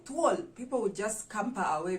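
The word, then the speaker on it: thuol: luau to all to all so it's t-h-u-o-l to all so if you say tual someone would know you're you're referring to a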